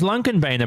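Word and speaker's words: Lånkebanen: I did speak to someone who was Norwegian, and they told me the correct way to pronounce it is Lunkenbeinen, but they also told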